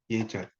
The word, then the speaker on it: 예절: 그러니까 우리가 예절 같은 경우도 애절이 아니죠. 예절. 이것도 발음할 때 예절로 발음하죠.